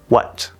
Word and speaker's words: what: But, this word is just the w sound plus the schwa sound plus a t, what. And of course, you can stop that t, what.